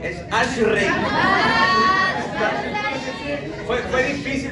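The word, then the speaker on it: אשרי: Dichoso en el hebreo es una palabra que se llama ashri, no es ashle, es ashrey. Fue fue difícil pronunciar esa palabra.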